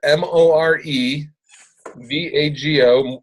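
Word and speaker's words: Morevago: you can go to mor e V AG o that's pronounced more vago and I did it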